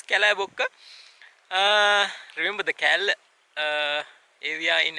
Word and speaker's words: Kallebokka: welcome to upper-division viewpoint Kalibak something like that anyway it's pronounced as Cala Boca remember the kal avi